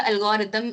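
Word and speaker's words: algorithm: एल्गोरिदम कह रहे हो ऐसे उस इतना जोर मत डालो ठीक है अल ठीक है इसमें अम नहीं मब अम बोलते हैं हम ठीक है ब बहुत साइलेंट होता है अब पूरा एल्गोरिदम ऐसे बोलोगे ना वो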